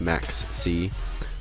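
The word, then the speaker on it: Maxx C: because Maxis are good I don't know why I'm pronouncing it like Max Maxi instead of Max C Maxi sounds like I'm saying this but uh yeah it's weird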